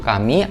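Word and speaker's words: 神: bagian bahunya ini juga ada kanji Jepang yang dibacanya itu kami artinya Tuhan apalagi di manual booknya ini ada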